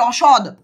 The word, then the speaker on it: অসদ: অসৎ ব্যক্তি মানে এটা হচ্ছে অসদ। এখানে দ উচ্চারণ হবে।